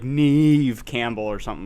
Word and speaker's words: Neve: It's like Neve Campbell or something like that. So, just don't give me shit. Nev Campbell, Neve Campbell. I thought I was saying it correctly the entire time.